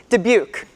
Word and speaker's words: Dubuque: of oh my god sean how do i pronounce that dubuque thank you university of utah high point university